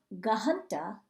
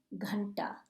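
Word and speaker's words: घंटा: is ganta ganta and that's a tricky h word do you hear me going in what that h after the it's not gahanta it's ganta and the difference is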